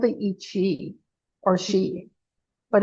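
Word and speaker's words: sidhe: They called the echi or shei, but it's spelled sh h i e because it's gaic, but that's what they were called.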